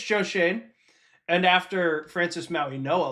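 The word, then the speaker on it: Schoen: And if I am Joe Shane, which I just learned that's how you pronounce his name.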